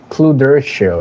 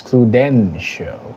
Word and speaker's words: Cluden show: First of all, it's not Cluder show. It's Cluden show. It's with an N.